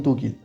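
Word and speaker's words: 독일: chinois et japonais et ils les ont prononcé à leur manière c'est ce qui donne tkil alors en japonais ça y ressemble un petit peu plus puisque en japonais le le mot c'est toitsu mais eux les Coréens on prononcant à leur manière ça donne dogil on va pas trop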